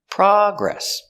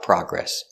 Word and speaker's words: progress: So remember, the noun, the stress is on the first syllable. Progress. Progress. So progress is a noun. They made a lot of progress. Progress is not countable. I don't say a progress or 2 progresses. It's not countable. They made a lot of progress. Or they made a little progress. And the verb is progress, with the stress on the second syllable.